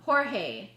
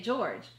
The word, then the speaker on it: Jorge: You'll say George. Like certain things that. Whoa, that's like that different. Yes. George. Well, because the way it's spelled. Right. Because you won't know that J is what the H sound.